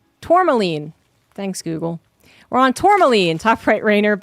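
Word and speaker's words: tourmaline: Pronunciation. Tormaline.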